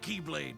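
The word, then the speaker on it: χ-blade: It's just pronounced like Keyblade, even though it's just one Keyblade.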